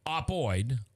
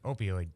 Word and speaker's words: opioid: pain and was prescribed oxy codone did I pronounce that right Joe you did okay uh it is an opoid opoid opoid opioid opioid that treats severe pain in the beginning